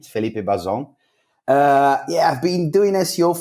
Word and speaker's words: Bazon: straight away so yeah first things first you pronounce my name correctly Felipe bo-zone yeah I've been doing SEO for quite some